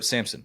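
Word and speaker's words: Sampson: Hunter by the way Simpson now is or Samson wow we're we're we're not We're Not Gonna mispronounce his name he is he is ear the right to have his name correctly pronounced dlan Samson now is 69 more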